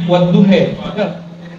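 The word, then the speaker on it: وَالضُّحَى: Bacanya Buya Mazmur wadduhe, wadduhe. Anda nak bisa baca Quran itu? Walaili idza sajid. Payahnya bukan AE tapi imalah. Kalau nak biasa bacanya kita baca E. Padahal A yang ada dicondongkan kepada ya.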